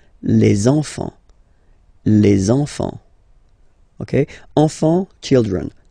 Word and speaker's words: les enfants: So you should make the little link. Les enfants.